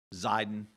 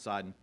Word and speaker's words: Sidon: Unlike our friends at Tyre, the Sidonians, you're going to find that, and you'll see it spelled with a Z in several places. Zidon, same city, Zidon and Sidon.